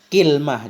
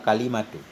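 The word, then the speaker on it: كلمة: Walau boleh juga kita baca kilmah juga boleh, kalimah juga boleh. Kilmah boleh, kalmah boleh, kalimat juga boleh. Banyak cara baca. Jadi yang paling fasih itu bacanya wal kalimatu.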